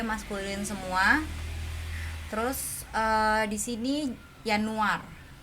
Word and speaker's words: Januar: Terus di sini Januar. Ingat ya, J itu dibacanya Y.